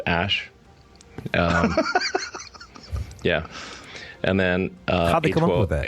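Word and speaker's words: Æ: letter X and then the AE is like pronounced ash yeah and then below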